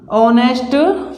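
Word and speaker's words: honest: बॉय ध्यान से देखना ऑनेस्ट बॉय तो आप कहोगे भैया ह जो है वो कंसोनेंट है लेकिन इसका जो हम उच्चारण करेंगे वो ऑनेस्ट करेंगे यानी यहां पर क्या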